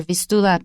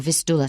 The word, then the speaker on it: Vistula: Okay, I think your pronunciation is better, Vistula, because I think in Polish it's 倒数第二个音节有重音 , so Vistula sounds better.